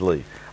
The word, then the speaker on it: Li: L-I in Chinese is Lee.